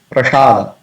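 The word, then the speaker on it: prasād: Then prasad, it's pronounced as prasad. In Hindi, it is very common. We say prasad. Prasad is ready. But it's not prasad, it is prasad.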